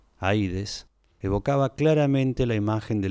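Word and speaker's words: Ἀΐδης: Por último, la entrada del Hades se llamaba Puerta del Sol, y la misma palabra Hades, tal como se pronunciaba en la época homérica, Aides, evocaba claramente la imagen de lo invisible, de lo que hace invisible.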